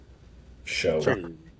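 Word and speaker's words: Shough: Show. Show. Pronounced Shuck for some reason.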